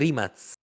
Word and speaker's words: Rimac: things curious ehm it's written Rimac it's pronounced Rimats ah Rimats I didn't know